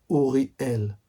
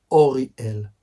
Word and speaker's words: Uriel: Uriel or orel. There are two ways to express to pronounce the angel name.